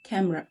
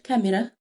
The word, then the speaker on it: camera: camera. okay، مش كاميرا زي بالعربي، لا هي هتبقى camera.